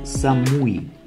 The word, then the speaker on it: Самуи: Всем привет Мы на острове Самуи правильным произносить Самуи остров сиамскому заливе Тихого океана является частью таиландской